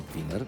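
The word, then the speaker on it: Finer: de la Casa Blanca John finner o John finner es así se pronuncia afirmó nos estamos preparando para todas las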